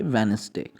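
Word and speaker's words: Wednesday: इसके अलावा भी है जैसे वेडनेसडे बहुत से लोग इसको वेडनेसडे पढ़ते हैं दी इसमें साइलेंट है आप पाएंगे वेडनेसडे इस तरह हैंडसम हैंडसम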